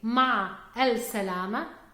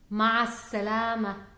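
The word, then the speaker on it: مع السلامة: so instead of saying ma l Salama we say math Salama mass Salama so we don't pronounce the definite article health and we also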